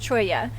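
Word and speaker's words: cholla: one area really cool Brittany so this Choya it spelled chola see hol la but it's pronounced troy yeah and this guy has actually died but it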